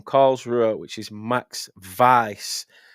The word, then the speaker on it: Weiß: Ruer which is Max Vice. Now that's how it's pronounced. It might look a little bit weird, but it's pronounced vice.